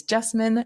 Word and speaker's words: Jessamine: Again, my name is Jessamine, rhymes with specimen, but with a J, and I'm a budding